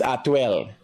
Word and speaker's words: Atwell: And again, it's not Atlee, it's Atwell.